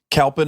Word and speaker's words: Kalpen: Kalpin or Yeah. Kulpin? Kulpen is like how you actually pronounce it.